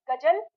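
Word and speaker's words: ग़ज़ल: अब इसका उच्चारण हो गया बिल्कुल वही जो इसकी भाषा में होता है। अब ये गजल नहीं होता। ये गजल होता है।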